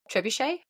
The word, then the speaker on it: trebuchet: a really how do you say that again trebuchet girl I called it trabucked baby girl you keep on calling it whatever you want that's fine to Bucks I I think the trebuchet is way more Majestic than when I was